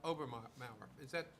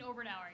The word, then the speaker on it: Oberauer: Okay, Obermauer. Am I pronouncing that correctly? Oberauer, yes. Oberauer. Yeah, Okay. you were getting there.